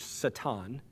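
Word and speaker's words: שָׂטָן: Well, the word Satan means, literally in Hebrew, it's pronounced Satan.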